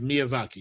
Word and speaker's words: Miyazaki: When Elder Ring was coming out, there was an interview with Miyazaki. Oh yeah, that's his name by the way. That's how you pronounce.